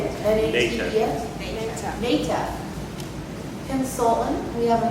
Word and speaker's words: NATEF: And I butchered that acronym, how you say it? N-A-T-E-F?